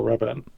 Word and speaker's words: Rabin: There we go, Rabin. Yeah, thank you. I'm not very good at pronunciation.